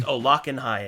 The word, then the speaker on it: Olokenhai: It's pronounced Olakanhai, and he is the god of madness.